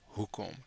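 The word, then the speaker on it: hoekom: come the second syllable here the emphasis is on the first syllable who comb so as we do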